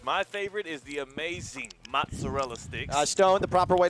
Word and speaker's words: mozzarella: My favorite is the amazing mozzarella sticks.